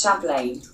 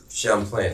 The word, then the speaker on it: Champlain: Jerry's uh is originating country man said it's pronounced Champlain Champlain okay um so uh Ben and Jerry's uh